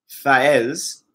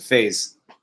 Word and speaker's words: Fez: The name's Fez, which means winner, pronounced Faez. And it is a play on words because English speakers pronounce it phase.